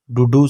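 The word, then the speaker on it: Duduk: है यहां बैठ जाओ डूडू सिनी डूडू सिनी के साइलेंट है ठीक है उसके बाद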